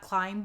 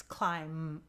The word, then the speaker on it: climb: before I forget climb make sure you know the B is silent it's not climb but it's climb okay does it live